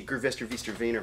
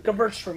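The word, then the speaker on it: Gewürztraminer: You have to teach me how to say Gervester Wiener Weiner. Right. And I'll teach Vaynerchuk. You how to say Vaynerchuk. No, not that one. Gervester Wiener. How do you say Gervester Wiener? Gewurztraminer.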